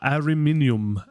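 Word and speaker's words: Ariminum: roma at uh ariminium so let's get that pronunciation right uh ariminium we uh we do hear luke say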